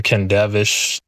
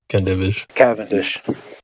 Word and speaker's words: Cavendish: What I was about to say is, you know what the Kendavish gravity torsion rig is?